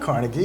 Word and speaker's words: Carnegie: Carnegie Mellon? You did? In Pittsburgh. It's not Carnegie, it's Carnegie.